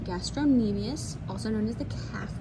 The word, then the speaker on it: gastrocnemius: this back on is the gastrocnemius that c is silent gastrocnemius also known as the